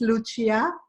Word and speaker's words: Lucia: in the neighborhood you are super good in pronouncing my name actually it's Lucia me that's not uncie asian okay good